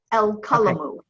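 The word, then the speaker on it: القلم: El kalamu.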